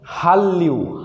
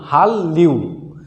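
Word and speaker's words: 한류: উচ্চারণ হবে, তার মানে এটাও ল হবে। তাহলে উচ্চারণ হবে হাল্লিউ, তাহলে সঠিক উচ্চারণ হবে হাল্লিউ, হাল্লিউ।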